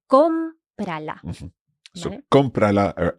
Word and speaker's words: cómprala: And if we're applying that rule about using the second last syllable for our strong syllable, it would sound like comprala. Yes, which sounds really funny. So we need the accent to indicate that the stress is still on comprala.